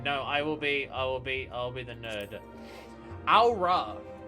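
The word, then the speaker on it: Au Ra: Aura. I'm just saying, I'm pronouncing this like Amon-Ra, really, more than anything else.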